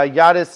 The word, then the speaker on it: Jadis: Um, I do want to say, however, uh, Yadis is spelled J A D I S. I pronounce it the J as a Y cuz most languages, not really English, pronounces it that way.